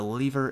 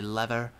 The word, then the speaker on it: lever: tree I do need a lever as well or a lever depending on your pronunciation uh let's go ahead